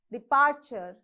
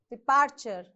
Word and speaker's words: departure: d and d either departure stress on p departure degree okay degree so